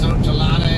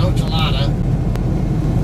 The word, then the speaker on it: Ochelata: way and pronounce that I call it oela uh like I said earlier most people will call it oel I in to pronounce words the way they're meant to be pronounced and not the the angle sized way so like a Spanish